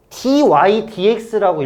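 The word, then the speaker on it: dy/dx: 근데 이거는 dy dx라고 읽어 주는게 좋아요.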